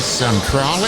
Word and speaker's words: Centrale: we call it Centrale. Centralia. And in Austria, that's the way it's pronounced.